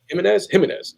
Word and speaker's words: Jimenez: Although I hear a lot of people call him George Jimenez. So see, Jimenez. Yeah, to me, it's spelled Jorge Jimenez. It's Jimenez. Like, at least that's what my friends would say, or Ed would say. It's Jimenez. Jimenez. Pronounced like that.